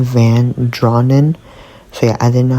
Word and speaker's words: Van Draanen: Okay, Angel here editing, but um the author's last name pronounced is Wendelyn Van Drawn.